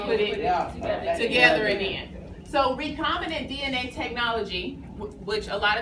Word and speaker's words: recombinant: And then also recombinant is how you pronounce that word.